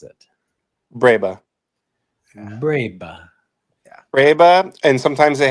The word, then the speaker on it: breba: How do you technically pronounce it? Breba. Breba. Breba, and sometimes they have Breva, like with a V.